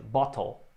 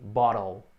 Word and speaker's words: bottle: Se você tem dificuldade de dizer bottle, você pode pronunciar o T mais forte, bottle. The water is in the bottle. Como eu já falei, né, o inglês é americano e o americano pronuncia o T bem fraquinho, né? Às vezes parece como um D, bottle.